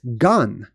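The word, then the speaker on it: גן: This is how you say garden in Hebrew. It's gan. That's how it's spelled, gan.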